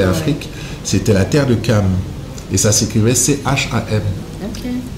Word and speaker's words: Cham: Cam s'écrit C-H-A-M, c'est pour ça que les gens disent Cham.